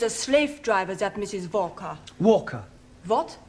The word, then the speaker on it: Walker: Walker. Walker. What? W is pronounced W.